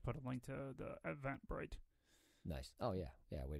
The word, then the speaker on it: Eventbrite: Everbright or Eventbrite? Everbright. Say it right, Kip, so they go to the right place. Okay, it's Eventbrite.